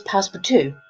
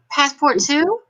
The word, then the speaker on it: Passepartout: His name is Passepartout. Okay, he is the manservant of the pod. However, if you spell it, it's spelled passport out. Yeah, you can imagine how I read it. Yeah, you're going passport too? Passport too?